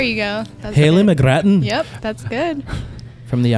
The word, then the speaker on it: McGrattan: Okay, so we're here with Haley McGrattan. Yeah. Hello. Hello. How are you doing today? That's not the way you pronounce her name. McGrattan. There you go. That's Haley good. McGrattan.